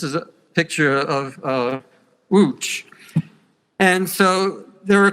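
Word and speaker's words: Łódź: I just said oh how do you spell wooch and he looks at me says oh it's it's l-o-d-z I'm like in English you would pronounce that luds I would never get off at luds if I was going to wooch and so if I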